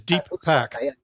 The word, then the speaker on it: Deepak: By the way, the correct pronunciation is Deepak.